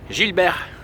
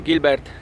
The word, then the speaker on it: Gilibert: przemysłowym rozrzutnikiem filmik firmy gilberg niektórzy mówią Gilbert jest to firma gilberg znam francuski doskonale więc wiem jak te nazwy się wymawia gilber Helios 12 maszyna z